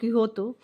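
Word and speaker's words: Quixote: This is an extract from मैगविल डी सार्विन्स great novel about don किहोतो. Pronounce यहाँ पे क्विक्सोट है यानी कि किहोते इसको पढ़ा जाएगा.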